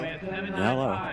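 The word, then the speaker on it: Nelo: It's a Nilo boat. Isn't that what the boat you have? Yes, my brand new boat is a Nello. Nello. Nello rhymes with yellow.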